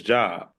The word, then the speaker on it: Job: give people an example The Book of Job is spelled j o b we know it his job but if you get into the biblical world it's called job so it's our job